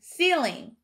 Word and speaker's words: ceiling: at our first syllable in ceiling we heard the e sound again but it is spelled with an e i go ahead and write